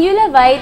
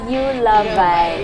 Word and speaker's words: Euluvye: So ang Euluvye came from I love you, kabaliktaran ng I love you. I love you. Wow. So it came from I love you. Pag binaliktad siya, Euluvye.